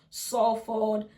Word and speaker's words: Salford: It's spelled Salford, but it's pronounced Salford, Stockport, Thameside, Trafford, and Wigan.